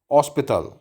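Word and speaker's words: hospital: को कहते हैं हॉस्पिटल हॉस्पिटल एज साइलेंट है ओ से आप इसे स्टार्ट करेंगे हॉस्पिटल इसी तरह से होटल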